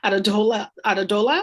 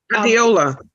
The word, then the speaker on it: Adeola: Adedola, is that correct? Adeola.